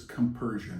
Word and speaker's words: compersion: That's That's There's a The word that they use is compersion. It sounds like compression, like But it's spelled differently.